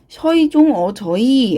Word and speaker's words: 세종어제: 서이종어저이 하고 읽어야 한다는 겁니다. 중세국어에서는 이거 세종어제가 아니라 서이종어저이 하고 발음을 했다는 것이죠.